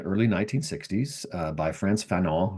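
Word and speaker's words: Fanon: 1960s uh by France Feno, who was uh you know, sometimes people just pronounce it Fenon.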